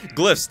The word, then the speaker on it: glyph: So it's pronounced Ankhs or Ankhs and Glyphs. Glyphs, there we go. I kept saying fucking GILFs, man.